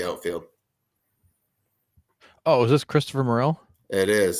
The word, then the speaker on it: Morel: Christopher Morell it is I'm like more that's B I remember that from the kids that was more I got it yeah Chris stop her more and then L from stranger things okay we got the